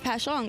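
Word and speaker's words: Passyunk: used to call it passing young she was like why are you calling it that it's pasan I was like well it's spelled passan and a lot of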